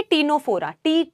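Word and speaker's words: Ctenophora: मतलब है टी से टीनो फोरा टीनो फोरा में बेटा सी साइलेंट है 10 वाला जो आ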